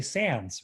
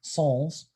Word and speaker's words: sans: have it without it's known as a sans which is the really really mispronounced french word sols which means without so